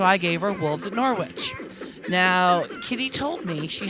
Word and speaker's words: Norwich: she said it wrong it's Norwich not Norwich yeah it's not a North sandwich it's an or inch Norwich remember to gamble